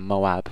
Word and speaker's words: Moab: right stress in my last video for saying Moab which is the correct pronouncation but we won't go into that this